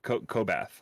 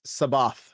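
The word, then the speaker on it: C'baoth: Kobath, I believe is how you say it. But no. He was... No, it's Sabath, I believe. Sabath, that's right.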